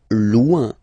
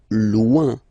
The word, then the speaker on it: loin: Loin. Loin. So remember, when you've got this combination O-I-N, it's ouin, ouin, ouin.